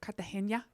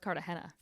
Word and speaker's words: Cartagena: I'm ready to go I actually think it's pronounced Cartagena my life yeah actually I actually just asked Tick Tock I saw where someone's like all Americans call it Cartagena it's Cartagena and I'm like all